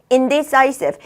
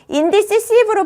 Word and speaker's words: indecisive: indecisive. indecisive로 발음하시면 안 돼요.